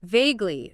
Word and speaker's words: vaguely: Vaguely. V-A-G-E-L-Y. Vaguely. 2 syllables. Stress on the first.